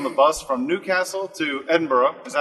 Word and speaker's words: Edinburgh: I'm on the bus from Newcastle to Edinburgh.